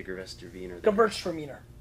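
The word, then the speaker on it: Gewürztraminer: You have to teach me how to say Gervester Wiener Weiner. Right. And I'll teach Vaynerchuk. You how to say Vaynerchuk. No, not that one. Gervester Wiener. How do you say Gervester Wiener? Gewurztraminer.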